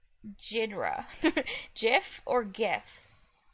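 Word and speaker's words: Ghidra: Or, oh, yeah, or Gidra. How do you Corrupt pronounce Converter that? says Ogidra. Gidra? Or is it, like, Jidra? GIF or GIF? Gydra.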